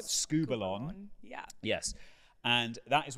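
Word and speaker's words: σκύβαλον: It is, let me pronounce it right, skubalon.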